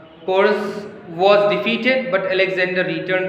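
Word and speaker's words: Porus: वैसे पोरस नाम है, यहाँ पे स्पेलिंग रॉन्ग है. पोरस जो अलेक्जेंडर की जो सबसे फेमस लड़ाई हुई यहाँ पर, वो अलेक्जेंडर और पोरस के बीच हुई थी.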